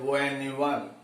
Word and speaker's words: one: O is a vowel, but this vowel is giving wa sound. 1 rupee. So how we pronounce the word one, W-O-N, we have to pronounce this word O-N-E-1.